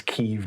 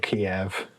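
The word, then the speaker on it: Kyiv: Um, but they'll change the way we have to pronounce Keev again. Why? Cuz it's Kev, not Kiev.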